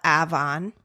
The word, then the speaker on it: Avon: Then we have Avon, like Avon. Yeah. And we call it Avon.